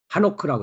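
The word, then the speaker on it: חֲנוֹךְ: 에녹이라고 하는 봉헌하는 자가 하노크라고 했습니다.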